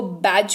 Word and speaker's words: badge: BADGE, इसको बगड़े नहीं, इसको बैज पढ़ते हैं, जिसका मतलब होता है बिल्ला।